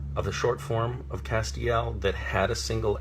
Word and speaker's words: Castiel: in and they will say how do you pronounce your character's name is it Castile and I will say no it's not Castile it's Castiel and that's very important that on the page